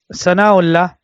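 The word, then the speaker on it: Sanaullah: So with regards to his name, then the Shaykh's name was ThanāʻAllāh, or Sanāʻullah, like they say in Urdu. Sanāʻullah bin Khidarjo al-Kashmiri. So the Shaykh's name was Sanāʻullah, like they say in Urdu, and I will pronounce it in Urdu, Sanāʻullah.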